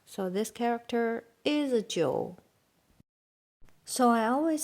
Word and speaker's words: 酒: And Jiu is Geu, 酒. Here, suppose if without two dot, it's supposed to pronounce u. But when G with this one, we don't need to write two dot because we don't have dual pronunciation.